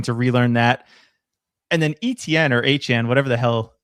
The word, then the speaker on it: Etienne: You definitely didn't see this cuz you're not on Twitter, but did you see that Travis Etienne said that his name is pronounced Travis Achane?